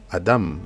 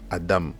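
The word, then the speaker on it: אדם: Alors, c'est vrai qu'en français, souvent, beaucoup dans la francophonie ont souvent pris l'habitude de dire Adam, ok, pour désigner le premier être humain, mais dans l'hébreu, c'est Adam, Adam, pas Adam, mais Adam, ok.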